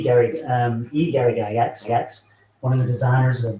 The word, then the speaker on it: Gygax: The G is a G, but if you pronounce it like a kid, you go gut. Axe is axe, but if you kind of glue all those together, you get axe, and that's Gygax.